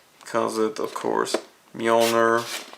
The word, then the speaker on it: Mjolnir: He comes with, of course, Mjolnir, or Mjolnir if you don't know how to pronounce it correctly.